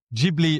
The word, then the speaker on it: Ghibli: wonderful story about how Miyazaki didn't know how to pronounce it. And by the time they worked out it should have been Ghibli rather than Ghibli, it was too late.